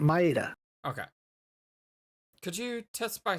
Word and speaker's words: Maeda: been her whole body maida yes is it maida maida yep uh you said it right the first time Maita okay could you test